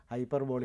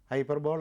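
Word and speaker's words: hyperbole: ബി ഒ എൽ ഇ ബോളി എന്നാണ് അതിന്റെ ഉച്ചാരണം. ഹൈപ്പർബോളി എന്താണ് കാരണം? അത് ഇംഗ്ലീഷ് വാക്കല്ല. ഹൈപ്പർബോൾ എന്ന് ഉച്ചരിക്കുന്നതിനും വിരോധമൊന്നുമില്ല. പക്ഷെ ശരിയായ ഉച്ചാരണം ഹൈപ്പർബോളി എന്നാണ്. എൽ ഇ അത് അങ്ങനെ തന്നെ ഉച്ചരിക്കണം.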